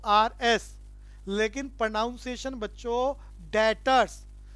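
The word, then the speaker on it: debtors: है डीबीटी जो आरएस लेकिन प्रणाम सेशन बच्चों डेटर्स भी साइलेंट होता है कि अगर भी को भी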